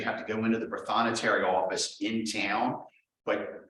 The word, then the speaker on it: Prothonotary: Yeah, basically it's Protho Notary, Prothonotary, Protho Notary Office.